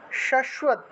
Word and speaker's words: শাশ্বত: কৃষ্ণেনা সংস্তুতে দেবী, কৃষ্ণেনা সংস্তুতে দেবী, দেবী শাশ্বত, শাশ্বত ভক্তিয়া সদাম্বিকে, সদাম্বিকে, ঠিক আছে, ময় বয় আছে, নিচে সামনে আকার আছে, সেজন্য সদাম্বিকে, সদাম্বিকে উচ্চারণ হবে।